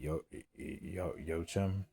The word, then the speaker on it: Joachim: Um, so this is directed by I say Yochim. Yochim. I know you don't say it like Joachim.